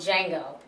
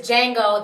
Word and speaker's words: Django: yes his name is Jango the D is silent but um his character